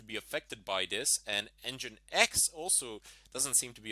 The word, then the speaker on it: nginx: doesn't seem to be affected by this and engine X also doesn't seem to be affected by this